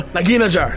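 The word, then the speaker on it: Nagheenanajar: Naginagar. Okay, sure. No, Naginajar.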